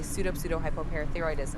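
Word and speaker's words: pseudohypoparathyroidism: With a hint of pronunciation and a touch of patience, you want me to say pseudo-hypoparathyroidism, eh? That's a tongue dash twister of a word. For pronunciation's sake, it's usually broken down into smaller parts as pseudo-hypo-parathyroidism.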